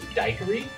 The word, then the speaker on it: daiquiri: but now you do the actual Cuban pronunciation is dye curry which sounds interesting purists say the granulated